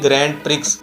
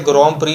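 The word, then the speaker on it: Grand Prix: दिखने में तो ये लफ्ज़ लगता है कि इसकी प्रोनाउंसिएशन होगी ग्रैंड प्रिक्स, लेकिन ये फ्रेंच का लफ्ज़ है तो इसे ग्रां प्री ही पढ़ा जाता है।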